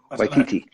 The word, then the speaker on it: Waititi: or the Scorseses, the Spielbergs, or Jojo Rabbit, pronounce his name for me, Waititi.